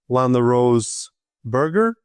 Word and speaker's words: LanaRose Berger: Today I'm having a conversation with Landa Rose Burger. Mhm. Am I pronouncing it correctly?